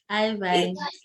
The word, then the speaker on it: Ivine: Ivine. Divine, as in divine.